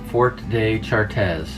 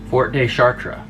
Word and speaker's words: Fort de Chartres: How to pronounce Fort de Chartres. Fort de Chartres. Fort de Chartres. Fort de Chartres. Chartres. So the ES, it's spelled CHARTRES. So the ES isn't S, it's A.